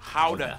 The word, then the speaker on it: Gouda: And the pride and joy of the nation, Gouda cheese. Yep. That's how you pronounce it, guys.